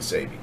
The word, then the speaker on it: Sebi: Sebi.